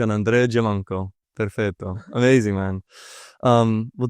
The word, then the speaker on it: Giammanco: track well I'll um let's say with the Italian pronunciation yeah do it I